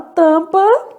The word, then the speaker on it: tampa: A palavra tampa, isso daqui, sendo que o nosso M aqui é nulo, quer dizer...